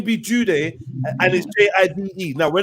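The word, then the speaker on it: Jidu: name was judy yeah his name is judy pronounced judy however it's spelled j-i-d-u we had years of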